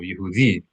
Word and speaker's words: Yehudi: Accent on that last syllable, Yehudi.